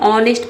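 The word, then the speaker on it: honest: यहां पे H silent रहता है। इसको हम ऑनेस्ट पढ़ते हैं।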